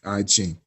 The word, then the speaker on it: I Ching: this first of all the I chain pronounce well I changed is the letter i and then the word c h i n g I Ching first of all it's when